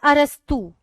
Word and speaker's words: अरस्तु: कई लोग इसको स्पेलिंग ये है ए आर आई एस टी ओ टी एल ई अरिस्टोटलल इसको पढ़ लेते हैं। पर इसको बोला जाता है अरस्तु।